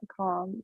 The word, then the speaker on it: calm: do some people don't do you um uh calm no I don't think so you don't right you don't you don't pronounce Yale Amy heneralment lb for M normally